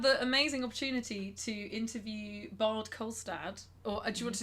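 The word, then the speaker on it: Bård Kolstad: We had the amazing opportunity to interview Bard Kolstad, or do you want to do the proper pronunciation? bored. Costa.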